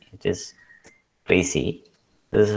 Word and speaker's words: précis: not an english word it is actually a french word you can see the